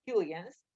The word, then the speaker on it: Huygens: Pero había un correligionario de él, y era Huygens, o Huygens, porque se escribe Huygens, pero se pronuncia Huygens.